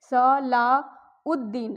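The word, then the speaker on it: صلاح الدین: यहां भी हम पढ़ेंगे स ला उद्दीन अलिफ को लाम के साथ जोड़ेंगे और द को यहां पर दीन पढ़ेंगे। उद्दीन यहां यह वाला जो अलिफ है इसको दाल के साथ जोड़ेंगे। अलिफ और लाम यहां पर इसकी आवाज नहीं आएगी।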